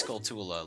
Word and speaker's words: Skulltula: And like it took me to like first start watching Let's Plays to really like realize, oh yeah, no, it's Skulltula. Like it's spelled that way too.